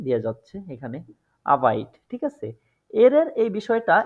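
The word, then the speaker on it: Arbeit: আরবাইট অর্থ কাজ আরবাইট কিন্তু এই আরবাইট এর সঠিক প্রোনাউন্সিয়েশনটা হচ্ছে আবাইড আবাইড সুতরাং এইখানে এরটা আই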